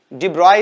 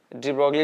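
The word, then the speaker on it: de Broglie: डी ब्रॉय इसको बोलते हैं, डी ब्रॉय प्रोनाउंसिएशन करते हैं, डी ब्रॉगली भी बोल लिए, कोई दिक्कत नहीं है।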